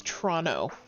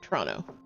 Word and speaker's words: Toronto: But yeah, if you're not from Toronto, do not pronounce the second T. It's Toronto. Like the movie Tron with O at the end. Toronto.